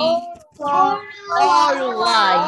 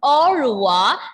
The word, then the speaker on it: au revoir: Au revoir. Yes, that is the first one. Au revoir.